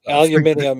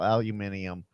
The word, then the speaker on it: aluminium: Aluminium is the way it is pronounced. Yeah, exactly. They they speak funny in Canada, Frank. That's okay. Uh, Canada, Oz, New Zealand, UK, it's all aluminium.